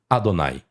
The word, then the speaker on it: Adonai: Então está o tetagrama, mas como é que eu pronuncio? Adonai.